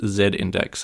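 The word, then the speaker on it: z-index: second all full-time job two out of three people agree with zed index as the correct pronunciation on this call okay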